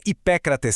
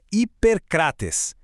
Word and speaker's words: Ipêcrates: Para pronunciar com perfeição, a gente junta a força do circunflexo do nosso P e desliza direto para a terminação clássica grega. Não é Hipécrates sem graça, não. É Hipercrates. Sente só a força do